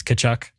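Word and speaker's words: Tkachuk: to get Matthew kachuck the t is silent right it's kachuck Matthew kachuck yeah kachuck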